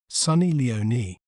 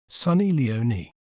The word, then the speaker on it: Sunny Leone: Le own Sunny Leon while in American accent we may pronounce it as Sunny Leoni Sunny Leoni s leoi Sunny Leoni